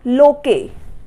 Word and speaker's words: Locke: Edwin लोके। इसको लोके बोलते हैं, कई लोग इसको लोक भी बोलते हैं। इसकी स्पेलिंग है LOCKE।